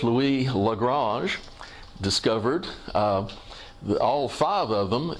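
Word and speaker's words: Lagrange: l5 incidentally regarding pronunciation the frenchman himself who was of Italian origin that worked in France pronounce his name legrasse but it sounds fakie and weird to talk about the lagrangian point so now that's an English word I'm just gonna call it Lagrangian otherwise it'd be garbage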